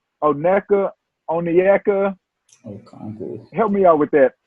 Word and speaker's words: Okongwu: Okongwu. Help me out with that. Okongwu.